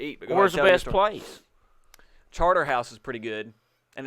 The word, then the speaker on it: Chartres: where's the best place charter house is pretty good and it's spelled c-a-r-t-r no apostrophe e c-c-a-t-r-e-s chartres cha-tree but they pronounce it charter yeah well because they're